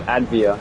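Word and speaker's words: Avdija: Danny Advia. There you go. That's how you pronounce it.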